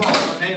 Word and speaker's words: Monique: All right, Monique or Monet? Well, it's spelled Monique, but my mother pronounced it Monet, so.